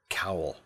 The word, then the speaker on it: Kowal: Kowal. It's like towel, but cooler.